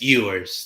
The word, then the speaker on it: Ewers: Now I want to ask you, Do you think if Edwards didn't get hurt, do you think Texas would win this game? Uh, just to correct you, it's Ewers.